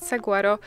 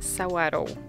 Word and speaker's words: Saguaro: parku to to że bardzo dużo ludzi źle wypowiada nazwę nie bo pisze się to Saguaro i chciałoby się po prostu powiedzieć Saguaro ale nie wymaga się Sauer o no i solarów to jest nazwa tego kaktusa tych kaktusów które są